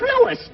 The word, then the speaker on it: Louis: Sounds like there might be a story at the plant, Lois. Lois? Me name is Lewis, not Lois. Gee whiz, everybody interpolates me name wrong. It's Lewis. L-O-U-I-S.